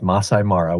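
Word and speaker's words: Maasai Mara: Is it Masai Mara or Masai Mara? It's pronounced Masai Mara with the emphasis on Masai and a slight pause before Mara.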